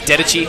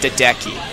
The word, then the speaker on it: Dedecchi: ask him myself yeah I thought it was dead Ichi and so I pronounce this is like it's dead deckie okay all right but here we go we